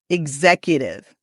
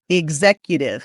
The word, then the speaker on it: executive: Executive. This is interesting because the X actually makes two sounds. It makes the G sound and the Z sound. So, don't say like exercise. That's a different X sound.